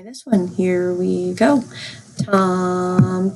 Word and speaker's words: tam: Yes, so it's Tom, but it's spelled T-A-M.